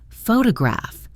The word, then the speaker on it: photograph: Photograph. The stress is on the first syllable.